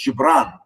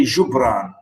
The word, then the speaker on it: Jibran: say in Arabic, we say his name is Jibran, and we have the word, even we say Jibran and Jibran. So I write it most often with J, not G.